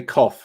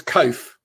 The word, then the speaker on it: Coath: surname wrong this one say cough or is it oh cough yeah it's it's cove okay but everybody messes